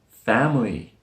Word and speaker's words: family: Yes, this word has 2 syllables. It's dropped in the middle where the I sound is. We don't say family, family, family. That swoosh sound is dropped and it sounds like family, family.